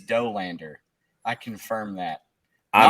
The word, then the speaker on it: Dollander: Everybody wants to say Dollander, but it is Dolander.